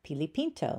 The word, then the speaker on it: Pilipinto: Hello, I am the author of Pilipinto.